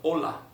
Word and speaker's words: hola: a level in Spanish, just avoid pronouncing the H and just go for hola.